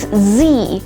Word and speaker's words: Z: It is Z as in zebra.